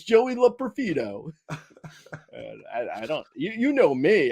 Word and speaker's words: Loperfido: Have you heard his name pronounced yet? It's Joey Loperfido. What's the problem? Hey, what's going on? It's Joey Loperfido.